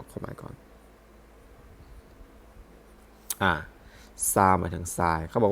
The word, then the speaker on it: 沙: นี้ วัน เสาร์ นี้ นะ ซึ่ง อ่าน ว่า ซา หมาย ถึง ทราย ซึ่ง ประกอบ ด้วย อ้า หมวด